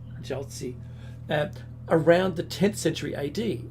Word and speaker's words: Jiaozi: How do you pronounce that one? Jiaozi. Jiaozi.